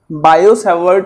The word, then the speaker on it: Biot-Savart: तो देखिए, तो यहां पे हम लिखते हैं according to बायो-सेवर्ट लॉ, T silent रहता है इसमें, और इसको बियू-सावा लॉ भी बोलते हैं।